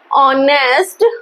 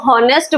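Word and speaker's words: honest: अगर आप इसको हॉनेस्ट बोलोगे तो वो कंसोनेंट साउंड देगा और आप ए लगा के आओगे, लेकिन हमको पता है कि एंड कब लगाना है, बिफोर वोवल साउंड्स के लगाना है। तो हॉनेस्ट तो इसका प्रोनाउंसिएशन ना होकर क्या होगा, ऑनेस्ट होगा इसका प्रोनाउंसिएशन, ऑनेस्ट।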